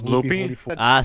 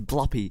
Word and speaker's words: Bloopy: So it was Bloopy? See, everybody pronounced it right there, but stupid CBT8 says Bloppy.